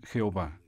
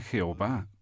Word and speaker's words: Jehová: lugar expliquemos por qué usamos la pronunciación jehová es acaso porque se trata de la pronunciación más parecida a la original es acaso porque se trata de la pronunciación más parecida a la original usamos el nombre jehová porque es la forma más extendida es claro algunos expertos prefieren usar yagüe en vez de jehová este fue el